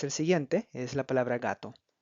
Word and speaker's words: gato: Gato, gato. En este caso, el acento prosódico se encuentra en la sílaba ga, donde no tiene ninguna tilde, pero ahí es donde el lenguaje, la persona, el hispanohablante, va a hacer la fuerza de la voz.